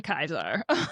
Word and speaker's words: Caesar: So they say Ave to Kaiser through the whole thing. So because they don't know how to say it. Yeah, it's Kaiser.